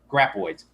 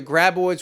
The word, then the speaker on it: graboids: help out with the graboids. Said it right this time. Nope. Graboids. You said graboids. Graboids. Okay? Graboids. Sorry, everybody. Sorry, Tremor fans. I always say it wrong.